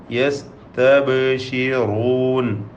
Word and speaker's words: يستبشرون: യസ്തബ്ശിറൂൻ. ബാഇൻ്റെ സുക്കൂൻ ഖൽഖല നൽകി ശബ്ദം ചലിപ്പിച്ച് ഖൽഖല സൂറ നൽകി വ്യക്തമാക്കേണ്ടതാണ്. യസ്തബ്ശിറൂൻ. റാഇന് തഫ്ഖീം കൊടുക്കണം, തടിപ്പിച്ച് ഓതണം. ഖുലില്ലാഹുമ്മ ഖാഫ് തഫ്ഖീം ചെയ്യുക.